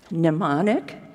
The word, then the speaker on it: mnemonic: think the word is mnemonic is that right I think it starts with an M but I think you don't pronounce it so she invented the